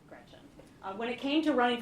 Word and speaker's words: Gretch: named after my grandma Gretchen who I adore. It's funny though because she always said, "Never let anyone shorten your name. Don't let people call you Gretch because it rhymes with wretch."